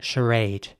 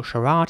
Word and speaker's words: charade: But some people might also say charade. But that is also quite American in my opinion. So charade is quite British and charade is more American.